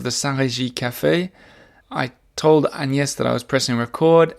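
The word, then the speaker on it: Agnès: really pronounce the G when you say it in French. Agnes.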